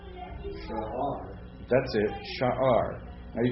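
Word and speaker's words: שער: Well, it's 2 syllables. I'm not going to actually pronounce the I in guttural. I mean, you could try to pronounce it, but I'm not going to worry about pronouncing it. But I will pronounce both the vowel points separately.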